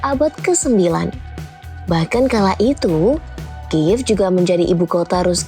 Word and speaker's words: Kyiv: Bahkan kala itu, Kiev juga menjadi ibu kota Rus Kiev dan pusat perdagangan.